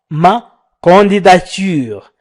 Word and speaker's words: ma candidature: النطق الصحيح هو ma candidature.